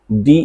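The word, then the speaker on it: debt: Alright डी ई बी टी डेप्ट यानी कि कर्ज। इसमें बी साइलेंट होता है और हम इसको बोलते हैं डे।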